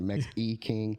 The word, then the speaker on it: Mex E King: It's the IG is Mex E King, Mex _ King. The E is like the brand, right? So E, not an I. So like so Mex E King.